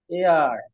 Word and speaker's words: heir: এটার উচ্চারণ হচ্ছে এয়ার।